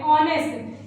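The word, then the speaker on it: honest: वजह से यहां पे एन का उसे करेंगे ऑनेस्ट इसको ऑनेस्ट चरण क्या है इसका इस वजह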